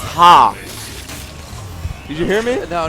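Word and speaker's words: ห้า: and the fatigue pants in thai the number five is pronounced ha did you hear me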